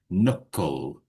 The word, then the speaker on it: knuckle: And we have a silent K there. So we don't say the K. We just knuckle.